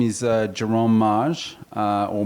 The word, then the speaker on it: Mage: yourself well uh my name is uh jerome maj uh or mage uh in america or maggie there's been omaze there's all sorts of ways to pronounce it they're all right but in in french it's maj um and i'm uh i'm a i would